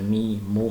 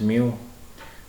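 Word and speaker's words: μ: Okay, this is uh some people pronounce it as mi moo. Some people mu for physics I think we pronounce it as mu.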